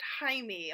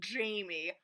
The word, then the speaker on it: Jaime: me Jaime Escalante and everything yes it's it's pronounced Jaime okay not Jaime Jaime Escalante just say it um but um